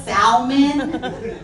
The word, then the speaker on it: salmon: Do you pronounce the L in salmon? Because if you are out here at 45 saying salmon, listen, we do not need to talk anymore.